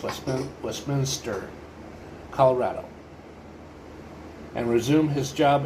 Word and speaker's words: Westminster: will return to his town home located in Westminister or actually it's pronounced West Westminster Colorado and resume his job as a financial